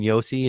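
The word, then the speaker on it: Juuse: just putting everything on yusi Saros and Roman Yosi and and they're riding they're going yeah you said it right it's it's Yosi and Saros right now and so you know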